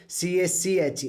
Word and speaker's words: cache: कोई इसको कैसे बोल सकते हैं इसके अलग-अलग प्रोनाउंस बोलते हैं कैश okay कैश कैश memory क्या होती है ठीक